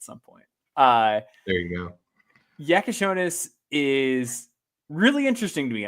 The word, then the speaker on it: Jakucionis: I'm hearing Jakucionis. Jakucionis is correct.